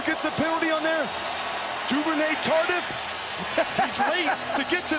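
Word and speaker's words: Duvernay-Tardif: the penalty on there, Duvernay Tardif, he's late to get to that one. I'm a rookie, guys. That was a pretty good call by me, Joe. That's excellent pronunciation exactly. of the Quebecois native.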